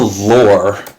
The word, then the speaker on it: law: about there's all the lore l-o-r-e i don't have anywhere to type it so i'll type it here the way in massachusetts law is pronounced is lore and so this could